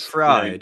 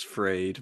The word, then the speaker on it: Fried: Is it pronounced fried? Surely it's Freed, man. Freed, sorry, yeah.